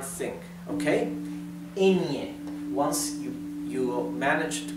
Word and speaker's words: yo: if you're having a hard time with this you can say in here and I okay Indian